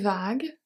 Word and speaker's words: vague: horizon pendant que les vagues Pendant que les vagues pendant E le U silent vague three last letters are silent U E S.